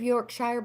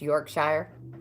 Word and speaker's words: Yorkshire: You don't say it's not pronounced Yorkshire. Is it Yorkshire? Yorkshire? It's the Yankee accent. Yorkshire. All right, so you don't pronounce it Shire like in The Hobbit, which is an awesome book to read.